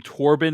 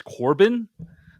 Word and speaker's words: Torbin: mess up a name I kept pronouncing uh the name torbin as Corbin uh there's a char